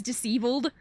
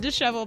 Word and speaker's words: disheveled: heard somebody say it I thought it was disbled I thought I thought the word disheveled was debled for a really long time cuz I had